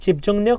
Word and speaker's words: 집중력: 충분한 수면은 পর্যাপ্ত ঘুম 집중력 মানে হচ্ছে মনোযোগ 집중 এটার উচ্চারণটা কি বলতো নিয়ক ইয়ং এর পরে রিয়ল আসলে এটার উচ্চারণ নয়ের মতো হবে ঠিক আছে রর মতো না কিন্তু ন দন্তন ন 집중력 한국어 능력 시험